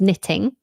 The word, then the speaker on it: knitting: you know plain old knitting that was fun with a silent k by the way everyone knitting silent k um what's the opposite